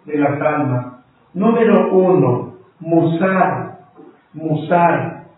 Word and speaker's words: musar: tomar el orden de las almas número uno musar musar m U S a r musar con